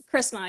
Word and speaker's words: Chrisma: you it's a little unique yeah yeah it's Christmas am I pronouncing it right Christmas yeah yeah okay okay cool um and congratulations